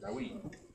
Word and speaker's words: David: But like, how would you pronounce that there? That there. David. Huh? David. or Dawid. Exactly. King David. That's how his name's spelled. Dawid.